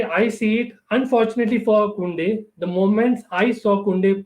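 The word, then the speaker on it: Koundé: Yes, that's how it's pronounced, Jules Kounde or Jules Kounde.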